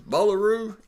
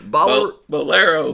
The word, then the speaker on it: Bowlero: Bowlero? You're close. Bowlero, Bowlero. there you go. I like calling it a Bowlero. Bowlero. Bowlero bought the PBA It'd be Tour, cooler if man. it's called Bowlero.